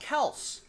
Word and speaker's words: Kelce: You know, I heard just today on Sports Talk Radio of Travis Kelce saying on a podcast that his last name is actually pronounced Kels.